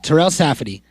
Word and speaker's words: Terell Safadi: And that person is Terell Safadi. Did I say it right? Yep. Okay, Terell Safadi.